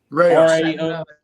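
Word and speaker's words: Rao's: in this and the the raos rouse how do you pronounce that tonya rayoz rao apostrophe s their marinara sauce and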